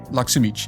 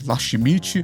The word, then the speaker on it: Laxemit: que se pronuncia e o correto é do jeito que eu falei, laximit, mas eu não me importo se chamar de lasmite ou como tá escrito na descrição do canal, me chamar de, de molho, tanto faz.